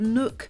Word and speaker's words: Nook: arando and the plant Nook that's Nook as in rhymes with book is definitely worth a